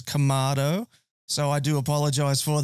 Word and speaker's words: kamado: shaking his head in the background there it's kamado so I do apologize for that my pronunciation is terrible um so we're going to